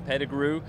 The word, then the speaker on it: Pettigrew: i'll never hold anybody accountable for how they pronounce my name it's pettigrew but in french is it doesn't